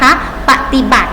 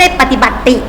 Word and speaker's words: ปฏิบัติ: มือ กระทำ นะ คะ ปฏิบัติ สังเกต นะ มี สระ อิ อิ แต่ ไม่ ออก เสียง อีก นะ คะ ไม่ ใช่ ปฏิบัตติ ไม่ มี นะ เรา ออก เสียง เหมือน